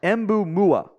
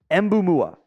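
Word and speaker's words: Mboumoua: he's still French uh he says it's pronounced U Ma or sorry embu mua embu mua so I'm I'm gonna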